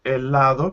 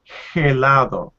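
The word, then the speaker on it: helado: to hear that now you said the word elado correctly even though we have that age at the beginning that most english speakers or people who studied english will try to say hellado but the age in spanish is completely mute we never pronounce it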